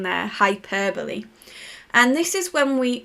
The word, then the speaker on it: hyperbole: So we've got the correct pronunciation there, hyperbole.